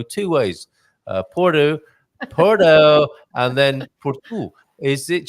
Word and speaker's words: Porto: Porto.